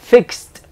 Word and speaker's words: fixed: hacerlo Drop Drop K fix fixed entonces dirán pero igual acá esto es una x y acá dice que es s Pues porque realmente el sonido final es es así es una s el sonido final lo mismo pasa con bailar Dance termina digamos que en c pero el sonido que tengo al final es de s entonces digo Dance danced